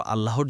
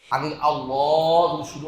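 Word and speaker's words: الله: এই পবিত্র নামটি ঠোঁটের সাহায্যে উচ্চারিত হয় না। কারণ এতে কোন ডায়াক্রিটিক্যাল চিহ্ন বা বিন্দু নেই। এখন আল্লাহ উচ্চারণ করুন এবং খেয়াল করুন কিভাবে এটি বলছেন। আপনি দেখবেন এর অক্ষরগুলি গলার গভীর থেকে আসে ঠোঁটের কোন নড়াচড়া ছাড়াই।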